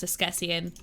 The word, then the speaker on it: Askesienne: If you're asking, it's pronounced Esquessian, but it's okay.